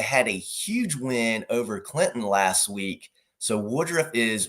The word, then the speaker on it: Clinton: You're a good dude, but you just got yourself canceled because you pronounced the T in Clinton. I try my best. And I know the saying is the T is silent but sweet.